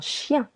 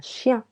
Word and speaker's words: chien: Letter T is silent. Un chien. A dog. Remember letter I, E, and N put together sounds y. Un chien.